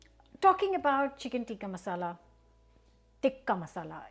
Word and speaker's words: tikka masala: about chicken Tika Masala tikka masala is the right way to say it I'm you know listening to tikka masala started saying tikka masala it's tikka masala chicken tikka masala um